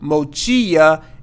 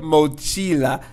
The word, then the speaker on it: mochila: in the past and add another L here so I would say mochia instead of mochila so don't do that